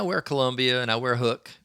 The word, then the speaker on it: Huk: Columbia and I wear hook which is spelled huk for those of you that are looking for it hook and and and others